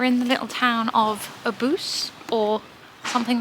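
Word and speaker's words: Obuse: car again we're in the little town of aboose or something like that it's pronounced OB us e um it's very cute they seem to have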